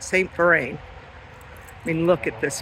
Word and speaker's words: Vrain: park St fine and you spell it v r a i n so like a V A V with the word rain after it St F Rin I mean look at